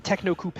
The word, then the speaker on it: Techno Coupe: It is pronounced the Techno Coupe.